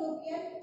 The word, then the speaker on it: European: Here E is silent, but youth sound is there. So, a European came to our shop.